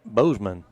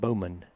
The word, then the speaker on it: Bowman: second baseman nate bozeman i'm getting that kid wrong every time i say to say his name wrong not that his number wrong his name is nate bowman and we got the first part right first pitch tonight ball